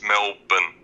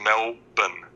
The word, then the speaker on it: Melbourne: It's not Melbourne, it's Melbourne. Okay, Melbourne. No, there's no R. It's just Melbourne.